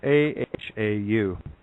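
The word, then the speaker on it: Ahau: is this it's uh it's spelled a-h-a-u uh pronunciation aha the common mind usage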